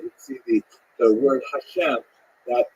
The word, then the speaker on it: Hashem: songs of God and the word Hashem of course is pronounced with the letter H but there is no